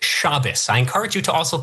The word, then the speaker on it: Shabbos: I saw the whole video, Shabos. I've seen the entire video. Okay, yeah, I've great. seen the whole thing. Also, it's pronounced Shabbos.